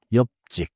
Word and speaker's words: 옆집: The spelling is 옆집. But in natural speech, it sounds tight. Close to 옆직. 옆집.